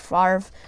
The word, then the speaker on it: Favre: you say it wrong good life jokes around and calls them bet or brett favre i think but yeah it's really brett favre so there we go